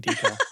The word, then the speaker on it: decal: But, as somebody from that region, I'm going to say, no, deckle is a pervert pronunciation. Just say decal.